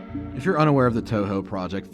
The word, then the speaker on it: Touhou: romanization and Japanese words the OU is actually signifying a long o sound so o instead of a short o sound like if you're unaware of the Touhou project it's a series